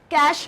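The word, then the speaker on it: cache: कैश memory बहुत fast accessible memory होती है ना, इसको आप कैश की तरह भी प्रोनाउंस कर सकते हो।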